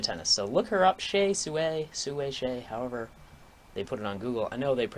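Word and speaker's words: Hsieh Su-wei: so look her up shay suey suey shay however they put it on google i know they pronounce it chase away and then it's uh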